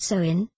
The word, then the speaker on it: Samhain: There are 3 stages of Halloween's development: Samhain, pronounced Samhain, All Hallows Eve, and Halloween.